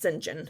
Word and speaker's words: St John: went into like tangents about whether or not singen is totally gay which my professor advocated he was that's how his name is pronounced by the way it's written down as St John it's pronounced singen but sure proceed anyway complicated feelings about the